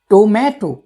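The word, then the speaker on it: tomato: এটা সঠিক উচ্চারণ হচ্ছে টোম্যাটো।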